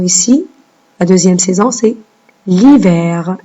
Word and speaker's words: l'hiver: La deuxième saison, c'est l'hiver. Et le H qu'on n'entend pas.